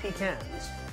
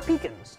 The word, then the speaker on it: pecans: one tablespoon of chopped pecans or pecans depending on you know where you're from and how you pronounce it look at that tell